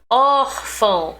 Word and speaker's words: órfão: Órfão, or.